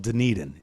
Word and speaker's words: Dunedin: Either way, I think the syllable is in Dunedin, like Dunedin. It's more on the E.